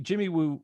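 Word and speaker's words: Jimmy Woo: that's great that's funny jimmy wu rhymes with scooby-doo which was the x-files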